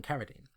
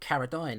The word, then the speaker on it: Carradine: The colonel, played by John Carradine. And you pronounced it Carradine earlier. It's Carradine.